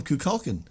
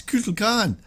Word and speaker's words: Kukulkan: You just called him Kukulkan. Oh, It's Kukulkan. I'm sorry, I didn't put the inflection on there.